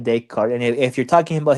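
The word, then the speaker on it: Descartes: I thought it was daycart. Um I'm not sure if the S is silent here. saying it is. Oh, he's silent. Yeah, the S is silent. Renee a day card.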